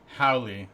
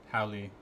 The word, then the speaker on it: Hoale: It's phonetic. Howley. Oh. Howley. Okay. I pronounce it like guacamole, which is delicious, by the way.